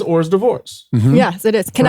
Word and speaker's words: hors d'oeuvres: Tell me if you wanted to spell it phonetically. It is or's divorce.